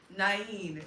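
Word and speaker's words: Nain: Naen is how it's pronounced. Oh, that's pretty actually. Naen. Oh, that is nice. It rolls off the tongue. Naen.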